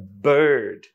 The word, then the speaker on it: bird: এটা হচ্ছে বার্ড, BIRD। আজকের পর থেকে আর বার্ড বলবো না, বার্ড এটা না, বার্ড।